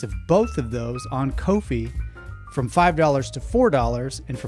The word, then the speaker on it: Ko-fi: Kofi and it's is it is Kofi like no fee because they charge no